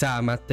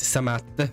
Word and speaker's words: Amat: ma non importa perché il mio nome è Amat non samat e Francis si è